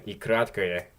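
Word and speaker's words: й: Now, this letter does not have a sound of its own. It modifies vowels that come before it. It makes it like a vowel pair almost. And it basically just adds like a Y sound to it. So if we had an O and then an ikratkaya, it would sound like oi. Or if we had A and then ikratkaya, it would be I.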